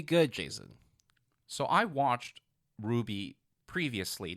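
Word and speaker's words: RWBY: Teeth um we're talking about Ruby spelled r WBY y do you actually know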